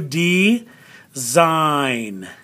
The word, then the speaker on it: design: or a sounded consonant is there a silent one in here there is it's the g so let's do d zein right got it sein